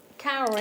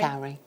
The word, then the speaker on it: cowrie: How do you pronounce that? Cowrie. Cowrie.